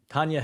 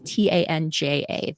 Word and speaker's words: Tanja: And for folks listening, it's TANJA. The J always throws people off with Tanja.